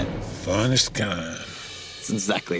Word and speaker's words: Finestkind: Finestkind.